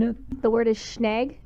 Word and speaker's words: schnag: The word is schnag. It's pronounced schnag, and it's spelled schnag.